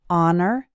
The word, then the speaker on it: honor: husband her history human the H is silent in the words our honor and air two more